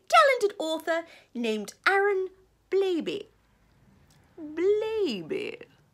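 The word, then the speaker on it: Blabey: Blaby rhymes with Raby.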